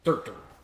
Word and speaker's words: Surtur: Surtur. Right, it's pronounced Sur. Or Surt.